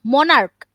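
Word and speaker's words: monarch: মনার্ক, মনার্ক উচ্চারণ সিএইচ দিয়ে হলেও চ না, এটা হবে মনার্ক।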